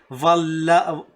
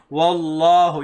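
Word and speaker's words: والله: No, wallahu. You have to keep your mouth, I mean, rounded when you say this letter wow. Okay, when you say the letter wow, your mouth will have a rounded shape.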